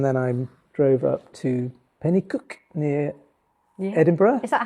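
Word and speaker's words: Penicuik: for her and then I'm drove up to Penny cook near Edinburgh is that how you say it Penny cook yes Penny cook Penny cook I'm sure with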